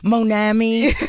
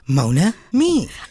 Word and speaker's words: Monami: But you understood the pronunciation because a lot of time people are like Monami or I'm like just say my name and then me. Mona me I really wish I I I could speak.